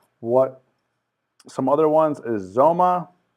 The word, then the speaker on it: Xoma: some other ones is Zoma or xoma is you pronounce it and this is another